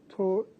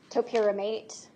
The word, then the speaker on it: topiramate: Was she prescribed torpiramate? Yes. How do you say that? Topiramate.